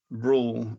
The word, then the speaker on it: Roel: Before they had a European distribution center, Rule, when you meet him, his name is spelled Roel, and no one knows how to say his name. But just think of it as Rule, like ruler, Rule.